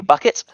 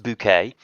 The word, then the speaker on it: Bucket: Uh, Sir Hugh Chumley Bucket. Sorry, it's pronounced bouquet.